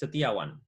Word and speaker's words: Setiawan: my last name uh but the way you pronounce it is satiawan it's a tiawand all